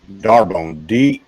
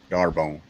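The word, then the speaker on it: D'Arbonne: Darbone. D-A-R-R-B-O-N. No, D-A-R-B-O-N-N-E. Darbone. Yeah, like D apostrophe. D-Arbone. Please don't make me spell that again.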